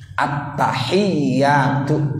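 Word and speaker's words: التحيات: Satu tasdid menempati satu huruf; di 'attahiyyatu' ada dua ya.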